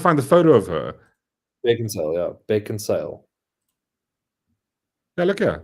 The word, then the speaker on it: Beckinsale: Are you saying it right? What do you mean? Beckinsdale? A surname. Beckinsale. Beckinsale, yeah. It's not Beckendale.